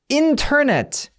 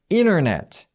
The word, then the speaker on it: internet: internet 해도 되고요. T 발음 해도 되고요. 똑같은 미국 사람이어도 차이가 있을 수 있다는 거예요. 이 T 발음을 안 해서 이거 어디선가 한 번쯤 여러분들 들어보셨을걸요? internet 이런 식으로 발음하는 사람들도 있어요.